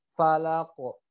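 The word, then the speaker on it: فلق: Ya, pantulnya ke huruf o karena masih banyak dari kita kadang mantulnya ke e, falaqo gitu ya. Tapi harus mantulnya ke huruf o. Falaqo.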